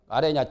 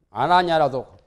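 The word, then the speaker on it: 아란야: 통구사 옆에 가면 아뢰냐 절이 있죠. 조그마한 절. 아뢰냐라는 것은 아나냐라도 하고 아뢰냐라 하기도 하고 그래요.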